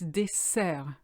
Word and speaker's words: dessert: It's dessert. It's a strong S because there's 2 S's.